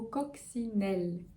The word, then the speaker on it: coccinelle: Après ça, on a le mot coccinelle. Coccinelle. Ok, un O très ouvert. O. Ensuite, comme si on avait un X. Coccinelle. Très ouvert. Coccinelle.